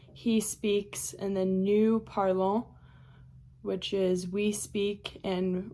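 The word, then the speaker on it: parlent: there and then parl even though it just sounds like p a r l e that one is p a r l e n t but you don't say parlant you just say parl.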